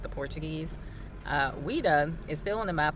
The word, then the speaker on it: Ouidah: Ouida is still on the map of Africa. It is either spelled Whydah or it's spelled Ouidah. This is the same exact word as Judah or Yehuda.